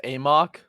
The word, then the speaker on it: AMOC: Is it pronounced Amok? Amok. Yeah, AMOC I dots thought it was recruiting. Amok. Yeah. it's Amok.